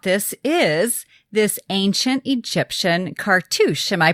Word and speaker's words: cartouche: is this ancient Egyptian cartouche. Am I pronouncing that correctly? Perfect. That's because you're French, It's a French word, actually.